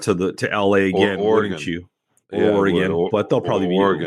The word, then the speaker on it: Oregon: But and for all the listeners out there, it's Oregon, not Oregon, Oregon.